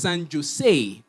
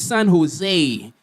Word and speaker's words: San Jose: It's not pronounced San Jose. The J is silent. It's San Jose.